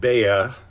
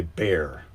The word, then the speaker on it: Bayer: You pronounce it Baya, and Yeah. I would say bear. Yeah, I would Yes, say, yeah, because I just in case say people- ERs as an A. So Bayer, Bayer, and then you call it Bear.